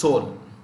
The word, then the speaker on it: Seoul: see this capital here this is pronounced with a silent e is silent is silent so it's pronounced soul um moon j in